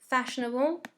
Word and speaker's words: fashionable: Fashionable, première syllabe est accentuée.